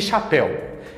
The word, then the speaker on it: chapéu: Perceba a pronúncia de chapéu. El, museu, eu. Chamamos essa diferença de aberto e fechado. Enquanto um cresce, né? El, o outro é parado, grave, eu.